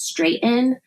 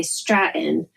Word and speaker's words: Straighten: Japanese and then my my current last name is straighten but almost everyone who reads it will say Stratton and I I hate